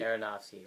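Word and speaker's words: Aronofsky: it's an interesting project for how do you pronounce that last name aronowski aronowski right okay I've been saying it wrong all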